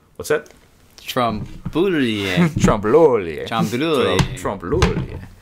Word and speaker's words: trompe-l'oeil: It's French. Yeah, we looked up how to say it because it's one of those words that you only see in writing. And then you don't really hear a lot of people say these days.